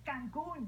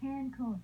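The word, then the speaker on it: Cancún: It's Cancun, not Cancun.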